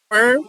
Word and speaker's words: worm: Worm and storm do not they're they're pronounced differently. With worm the o r is pronounced e r and in storm the o r is o r or yeah it's o r.